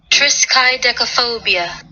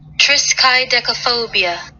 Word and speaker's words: triskaidekaphobia: the scientific definition and here's how you would pronounce it so everybody listen alright triskaidekaphobia triskaidekaphobia triskaidekaphobia wow that's a mouthful